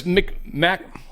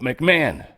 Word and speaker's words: McMahon: So yes, McMahon. It hurts my brain. For some reason, this word's a speed bump on my brain. I want to say McMahon. I almost said it right on accident.